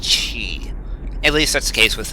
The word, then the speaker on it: Qi: all inquiry is resolved I'm pretty sure Qi is pronounced chee at least that's case